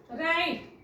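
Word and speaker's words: right: आय जी एसटी नाईट राईट आर आय जी एचटी ना आता याच्यामध्ये आपण वाचतोय का जी एच नाही वाचत आपण जी सो जी एच जो आहे तो सायलेंट पेअर आहे सो हेही लक्षात ठेवा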